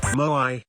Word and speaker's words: moai: 2 syllables. There's like a glottal stop in the middle there.